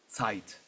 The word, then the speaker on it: Zeit: the old stuff, I'm a big fan of Zeit. Yes. Or is it is that the correct pronunciation? Is it Zeite? It's more sharp. Um, it's would be um Zite, but Yeah.